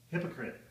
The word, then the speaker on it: hypocrite: Kind of like hippo plus crit. Like critter.